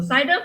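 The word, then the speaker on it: CIDR: format CER format so cider format we pronounce this as slash slash 29 okay so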